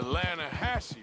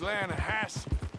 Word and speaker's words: Lanahatchee: You mean the Lanahatchee River? No. The Lanahatchee. It runs right near here. Yeah, but it's pronounced Lanahatchee.